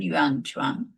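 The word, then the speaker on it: Xuanzang: Yanuan sorry whom when I was in school he used to be called Yuan but now the correct pronunciation is how it is written. Yanguan, he was in the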